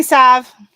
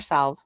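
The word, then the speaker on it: salve: Land Ranch live on do you say Sav or Sal I've always said Sav but oh my gosh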